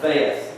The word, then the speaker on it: Veth: Then the 7 doubles, which actually they're called doubles because there's 2 ways to pronounce the word.